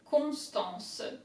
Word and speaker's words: Constance: First syllable, con, C-O-N, easy. Constant, S-T-A-N, stan, A-N is en. Constant, N-C-E. Constance, Constance.